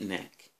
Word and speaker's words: Knack: Now, am I going to say Knack was whack, even though it rhymes with whack?